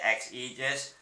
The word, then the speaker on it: XAegis: If you want to know what that word actually means, it means, they say it's X, and you pronounce it XAegis, and it means support, from like the Romans and stuff like that.